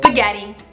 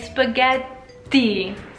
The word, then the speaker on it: spaghetti: I don't really pronounce the double letters and I've been told by many Italians that that's something I need to work on so instead of spaghetti you should be saying spaghetti spaghetti kind of like a pause on the tee spaghetti so if you go to Italy and you say spaghetti people will understand me but if you want to say it right I say spaghetti fettuccine but a